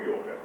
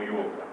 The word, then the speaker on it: Yôga: Por que que os brasileiros colocam este acento aqui? Yo, para indicar a pronúncia com o fechado.